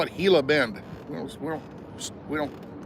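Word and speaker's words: Gila Bend: we at right now we're in hila hila Bend Arizona g l a hila wait a minute wouldn't it be gilla gilla Gill Bend I know it's Spanish for hila Bend okay like a heila monster the little lizard thing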